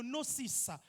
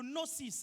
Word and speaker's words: Gnosis: appelle en grec le nocis G n o s i s le Gnosis ok le noosis on ne prononce pas le G G n o s